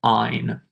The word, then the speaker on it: yne: Double bonds is ene, which is pronounced een. And triple bonds, yne, we pronounce that ein.